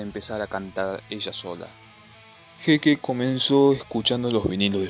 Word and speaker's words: Heike: Su nombre se pronuncia Heike.